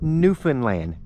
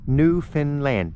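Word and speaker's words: Newfoundland: there and my American brothers and sisters it's New Finland New Finland that's how it's pronounced okay the spelling is New Foundland but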